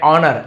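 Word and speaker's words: honour: With great wealth and ऑनर, S silent है, ऑनर यानी सम्मान, वेल्थ यानी बहुत ज्यादा धन है ना, ग्रेट वेल्थ का यूज किया गया है।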